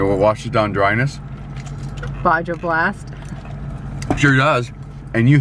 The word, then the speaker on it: Baja: Baja Blast. Sure does. And you hit that J hard. Yep. You don't say Baja, you say Baja.